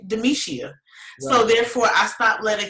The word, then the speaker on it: Demishia: was just like hmm if you can say the gisha then you can say demetia so therefore i stopped